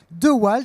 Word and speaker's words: DeWalt: parler de The White ça s'appelle devalt comment vous le prononcez the wall c'est une marque d'outils